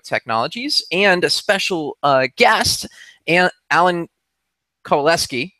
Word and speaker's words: Alan Kowaleski: and a special guest, Alan Kowaleski. Am I pronouncing that right, Alan? Yes, you are.